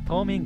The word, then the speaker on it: 島民: おかしいよねこれこれ道民って読むんじゃ島民じゃないやな島民かなるほど了解ですありがとうござい